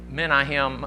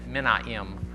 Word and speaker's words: Menahem: The Menahem, that one doesn't even have the H in it. Menahem, maybe the H is silent.